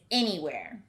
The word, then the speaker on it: anywhere: you to repeat is anywhere this word starts with an a-n which i would expect to say and but i hear e that's certainly a tricky spelling pattern the word anywhere goes